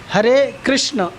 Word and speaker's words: कृष्ण: हरे कृष्ण अ है, कृष्ण। लेकिन नॉर्मली लोग उच्चारण क्या करते हैं? हरे कृष्णा। कृष्णा किसका नाम है? कृष्णा किसका नाम है? फीमेल का नाम है, द्रौपदी का नाम है।